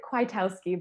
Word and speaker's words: Kwiatkowski: So and as you heard, that's Kwiatkowski. Is that close enough for you? How do you pronounce it? I pronounce it Kwiatkowski, but I love every attempt at how people pronounce my name.